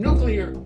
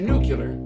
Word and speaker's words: nuclear: with no fear but how the pronunciation went from nuclear to nucular still remains ocular all